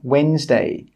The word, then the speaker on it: Wednesday: The letter D is normally not pronounced if it's before an N or a G. For example, Wednesday, badge.